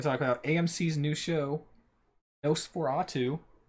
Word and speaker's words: NOS4A2: Come on, that's just you would not have guessed that's how that pronounced from watching that, from reading that. No. Did you? Why did you never say that? I kept calling it NOS4A2.